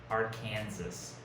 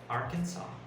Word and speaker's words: Arkansas: think that it's pronounced arkansas or arkansas right but it's arkansas so you just pretend that the s on the end doesn't exist and as for food